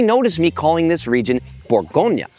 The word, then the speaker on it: Bourgogne: actually pronounce this word borgon or sometimes B dropping the last syllable instead of saying the English pronunciation Bon this is the